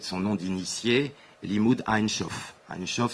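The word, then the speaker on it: Ein Sof: Einshof, c'est la correcte prononciation de sans limite en hébreu.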